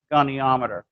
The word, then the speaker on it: goniometer: Well, we're going to have one tomorrow that has the principles of all the 10 principles and goniometer.